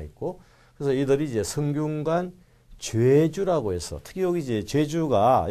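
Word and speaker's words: 좨주: 관직이기 때문에 읽을 때 이렇게 좌에 일을 써서 죄주라고 이렇게 읽는 거죠. 죄주 이렇게 했습니다. 그래서 한자 자체는 이제 제사할 때 제자입니다. 그렇지만 관직이 되면 죄주라고 읽죠.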